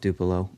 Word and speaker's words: DUPLO: That's how you say it? Uh that's how I say it. Okay. How do you say it? I say it like it's spelled. I say DUPLO.